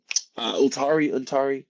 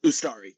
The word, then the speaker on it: Ustari: There was a great save from Untari. I forget how you pronounce it. The goalie before Calendar came on. They produced a really good save at it. Ustari, yes.